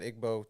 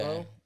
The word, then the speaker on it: Igbo: So they would not, you say Igbo and Ebo, is that the same thing? Right, spelled Igbo, but I think they pronounce it Ebo, like Hebo, like Hebrew. Okay. Ebo.